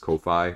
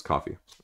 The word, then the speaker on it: Ko-fi: the same way as Ko-Fi or coffee. I always want to say Kofi, but, you know, it's coffee.